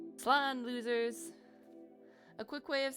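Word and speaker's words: slán: Slan, losers. A quick way of saying goodbye in Irish, a shortened version of I'm so sorry. Slan Abail, or safe journey home. One dialect would pronounce it as Slan.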